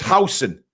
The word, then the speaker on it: Huijsen: It's Huijsen.